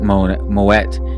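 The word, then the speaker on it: Moët: all kinds of brands it's not just moe that has that moet that has that i have the new way of saying that now that's fantastic i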